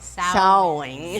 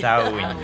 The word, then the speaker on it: Samhain: They're presenting how do you pronounce Samhain. it? Samhain. Samhain.